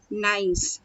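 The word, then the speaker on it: gneiss: cannot spell it nice the G is silent absolutely silent okay so G is absolutely silent so how we will pronounce this nice not denies or grains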